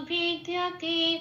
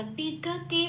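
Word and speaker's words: विद्यते: আচ্ছা, বিদ্যতে ভাবো, এটা একটুখানি লাল দিয়েছি বিতে, কারণ পাশের ক্যালেন্ডারে 2 নম্বরে তালিকাভুক্ত করে দেওয়া আছে ব কে সংস্কৃততে উচ্চারণ করে ও প্লাস অ, এবং এটা ঠোঁট খুলে উচ্চারিত হয় ব, এরকম ভাবে। তো যেখানে এখানে যেহেতু বয় হর্ষই আছে, সেই জন্য এখানে বিটা উচ্চারণ না করে কি উচ্চারণ করব, ও প্লাস হর্ষই ভি, এরকম।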